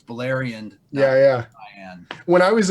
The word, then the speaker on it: Beleriand: I was reading the Silmarillion, I called Beleriand Beleriand. Why wouldn't I? You know Put what I mean? emphasis on the wrong syllable.